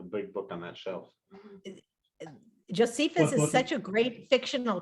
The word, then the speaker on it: Josephus: I always want to say Josephus, and it's not Josephus. Thank you very much. I've been corrected, Josephus.